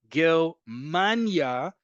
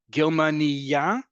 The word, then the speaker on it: Germania: Germania, emphasis on the penultimate syllable, name of the country. Germania, emphasis on the last syllable, a female German person.